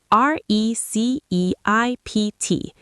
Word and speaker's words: receipt: R E C E I P T. The P is silent.